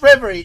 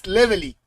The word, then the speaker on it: Levely: Oh, that's spelled reverie. Well, it's not reverie, it's levely. The thing is, the kana for both reverie and levely are the same.